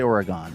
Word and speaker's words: Oregon: I don't say Oregon, I say Oregon because that's how you say it.